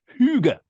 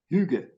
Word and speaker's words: hygge: part of the English language, spelled Hygge, but pronounced hygge. Hygge.